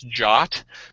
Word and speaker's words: JWT: JSON web web token or a JWT also pronounces jock basically is a way